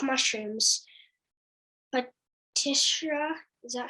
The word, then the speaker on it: Protista: can be animals plants fungi like mushrooms but tishra is that how you pronounce it protista yeah batista and monera what are batista and